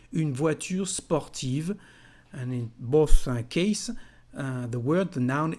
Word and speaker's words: beau: virtue sportive and in both case the word the noun is feminine the adjective ending in o the pronunciation of these three letters e a u is o like the letter o for example bo bo